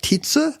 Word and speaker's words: Titius: I believe Titius is the right pronunciation of Johann Daniel Titius's name. It's not Titius. I don't believe so. Here's the deal. He's German, and his name is actually something like Tietze, I think.